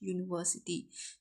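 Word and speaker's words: university: ही had always hoped that his son would go to dash यूनिवर्सिटी। यू, क्या आ रहा है? यू आ रहा है, तो है तो वॉवल, बट साउंड किसकी दे रहा है?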